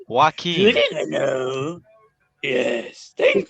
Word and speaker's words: Joaquin: it again, and that movie is the Joker, Walking Phoenix, 2019. Did Yeah, you I say saw it on the Woking cinema. Phoenix? I don't know how to say his name. Joaquin.